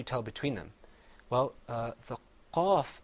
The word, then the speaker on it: ق: كاف Another difference is that the qaf is pronounced full-mouthed. You kind of purse your lips a little bit. You say qaf. Whereas the kaf, you open your mouth up.